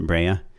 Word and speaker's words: Brea: star's name bria bria that's the city i'm from we pronounce it breya oh by night but that's where i grew up what city is that where is that brea it's in orange county